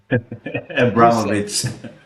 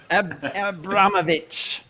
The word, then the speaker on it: Abramovich: Abramovich. Abramovich. Man, I I butchered that one.